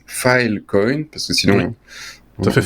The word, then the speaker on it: Filecoin: comme une brique de bien le prononcer file coyne parce que sinon dans